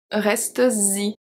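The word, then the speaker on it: restes-y: Reste-y. Z. Reste-y. Okay? So this is very specific to the pronunciation and the spelling.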